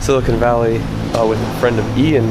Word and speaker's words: Silicon Valley: less Sil Silicon Valley I say Silicone Valley I don't think that's how you say it Silicon Valley with a friend of